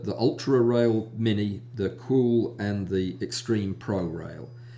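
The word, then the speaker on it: Qool: the cool rail that I'm sure you're supposed to pronounce it cool q-o-o-l that's um not as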